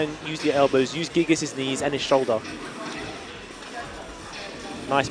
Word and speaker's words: Gigas: the moves from Gigas, I don't know why people keep saying Gigas, it's Gigas. It's actually Gigas who says it in the game. I don't care, they're saying it wrong. Yeah. So, yeah, exactly. Read what it says. There's one G, not two.